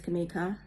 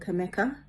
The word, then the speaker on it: Kamika: a lot to me my name is kamika and often i've been called kameka and if individuals cannot